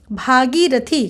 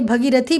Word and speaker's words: भागीरथी: नारायण, भागीरथी, कहीं कहीं भगीरथी भी रहेगा, तो आपको इस प्रकार से देखना पड़ेगा, तो शुद्ध उच्चारण आपको पता होना चाहिए। तो क्या होता है, भागीरथी।